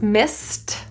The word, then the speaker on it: missed: If I'm using it in past tense, missed, the ED is pronounced as a T.